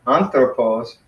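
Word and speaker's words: ἄνθρωπος: Theos eke nomon kai anthropos, anthropos, 3 syllables.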